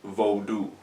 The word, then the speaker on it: Vodou: lot about it, but Vodou it's pronounced Vodou, V-O-H-D-O-O, Vodou. But I say Vodou because I'm an English speaker and living in the United States.